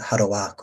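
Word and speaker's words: ハローワーク: Hello Work atau kita baca Harowaku ya, cara baca kita pakai cara baca Jepang.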